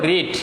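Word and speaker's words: read: Dear student দেখো রিড, এখন বলতে পারো স্যার রিড তো প্রেজেন্ট ফর্মে লিখলেন, আবার ডিড বললেন পাস্ট টেন্স।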